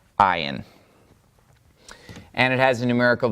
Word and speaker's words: ayin: That is the letter ayin. And it has a numerical value of 70. It is the 16th letter. It has a value of 70, and it is silent.